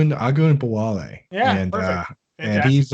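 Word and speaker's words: Ogunbowale: I'm not even going to bother pronouncing his last name against the Patriots or Jarrell Patterson against the Eagles. It's Agun Bawale.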